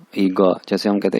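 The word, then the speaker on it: 一个: वैसे यानी चाइनीज इसको पढ़ते हैं गा गा ईगा, जैसे हम कहते हैं ईगा।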